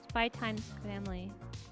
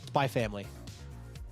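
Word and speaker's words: Spy×Family: Spy Times Family. You just leave it silent. Spy family.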